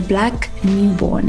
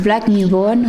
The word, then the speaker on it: Blaq Nubon: Blaq Nubon. Am I saying it right? Yeah, proper. Mr. Blaq Nubon, welcome to Extraordinary Take.